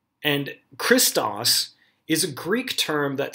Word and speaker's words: Christos: i s t oos this Greek word is pronounced christas and Christos is a Greek term that simply means the